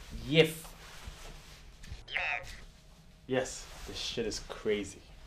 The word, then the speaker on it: yiff: It's pronounced yif.